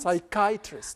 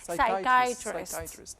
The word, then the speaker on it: psychiatrist: Should I pronounce that CH sound or ch sound? Psychiatrist. Could you say that again? Psychiatrist. Is it like even the P is silent, isn't it? Yes.